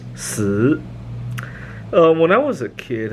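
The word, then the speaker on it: 死: Four is pronounced si, and death is pronounced si.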